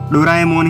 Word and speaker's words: Doraemon: Fact number 1, अगर आप ये सोच रहे हैं कि मैं शुरू से डोरेमोन को डोराएमोन क्यों बोल रहा हूँ, लेकिन आपको ये जान लेना चाहिए कि डोरेमोन का सही प्रोनाउंसिएशन डोराएमोन ही होता है।